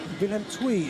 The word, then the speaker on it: Willem II: Okay, Willem II is the correct pronunciation.